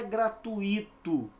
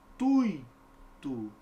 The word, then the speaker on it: gratuito: Qual é o certo, Albert? Certo é isso aqui, querido, ó, gratuito, ditongo, e olha aqui a sílaba tônica, Então, por que você não acentuou?